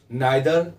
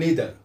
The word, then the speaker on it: neither: আজকের ব্যবহার হচ্ছে নাইদার নর, বা নাইদার বা নিদার। আমরা যেভাবে উচ্চারণ করি দুটি আমরা স্পিকিংয়ে আমরা ব্যবহার করতে পারি।